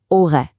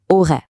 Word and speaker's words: aurais: Let's focus on that helper verb, aurait. Try saying it, aurait. Notice the S at the end is silent, so the whole thing is j'aurais parlé.